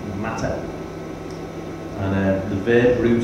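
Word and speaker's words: מטה: Hebrew word that's translated as Rod um it's pronounced matter and uh the verb root of the word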